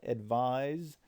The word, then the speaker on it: advise: focus on is that advise which is pronounced with a z and spelled with an S um is different than